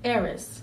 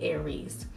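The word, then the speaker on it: Ares: So out of anger and spite, she created Eris. And that's how it's pronounced, I think it's pronounced Greek-wise, even though we say Aries.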